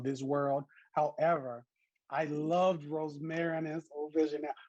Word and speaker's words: Rosmarinus: Rosmarinus. Rosmarinus is perfect. You're fine. Rosmarinus.